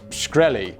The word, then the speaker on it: Shkreli: for a second ted graudy asked is it pronounced shkreli to which an off guard martin replied yes